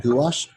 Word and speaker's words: gouache: This is called gouache, spelled like this.